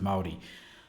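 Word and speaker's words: Māori: that Stan is from which is Maori right that's how you pronounce it Maori like I need to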